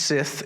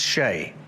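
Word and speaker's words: sìth: Back in his day, it wasn't pronounced Sith. It was spelled Sith, but pronounced Shay.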